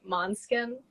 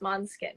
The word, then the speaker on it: Måneskin: I hear them, I think, yeah, like I think it's pronounced Måneskin because they say, "Hey, we're Måneskin."